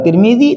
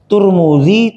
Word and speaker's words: Tirmidzi: wilayahnya sekarang Heeh kalau Tirmidzi tirmiz termiz tirmiz turmudzi Tarmidzi Tirmidzi boleh tiga-tiganya sah jadi imam Tirmidzi sama dengan Imam at-tarmidzi sama dengan Imam turmudzi tiga-tiganya pengucapannya benar karena menunjukkan makna tempat